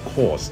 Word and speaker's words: Korçë: arrived at another city, which in English is called Korce, but I prefer its Albanian pronunciation, Korçë Speaking of Albania, it